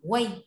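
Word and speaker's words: 为: Từ đọc là way nhá.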